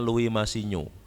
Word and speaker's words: Louis Massignon: Louis Massignon, orang Perancis, Louis Massignon dibacanya Louis Massignon.